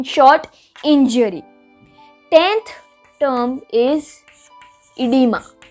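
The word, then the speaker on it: oedema: 10th term is इडीमा। ओ is silent, और कई books में सिर्फ ये ही स्पेलिंग लिखा जाता है, तो कुछ भी हो सकता है, बट इसको प्रोनाउंस करते हैं इडीमा।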